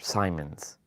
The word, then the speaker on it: Simons: place called Simon or Simons I said Simon because that you know that's how French like to pronounce things Le Simon Le Simon